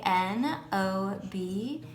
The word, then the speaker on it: knob: the next word is spell that k k-n-o-b and it is pronounced knob and a knob is